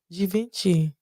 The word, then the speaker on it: Givenchy: Givenchy. Da Vinci. That's how they say it.